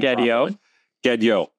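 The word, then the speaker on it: Gadiot: I looked this up online to pronounce his name. Gedyo, who portrayed Shanks.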